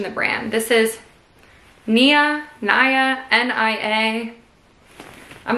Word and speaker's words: Nia: This is Nia, N-I-A. I'm not sure. We'll go with Nia because it rhymes with Mia.